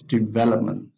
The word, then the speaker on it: development: we have another example development so the stress of the verb is on the second syllable developed developed and then the noun is development development and then you have